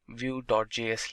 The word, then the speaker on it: Vue.js: Vue.js is commonly referred to as Vue and pronounced as Vue.js, or Vue is rightly so.